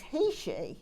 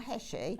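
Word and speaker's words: Heishi: So a sort of, and actually you pronounce these beads Heshi, not Heshi, but it doesn't really matter. We all know what we're talking about. But Heshi, it was a tribe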